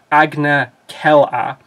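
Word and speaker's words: Agna Qel'a: It's Agna Kella.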